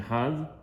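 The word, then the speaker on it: אחד: So when you say Shema Yisrael Hashem Elokeinu Hashem Echad, as you heard, I just said Echad. So that's the right way to say it, because first of all, it is the Oraita.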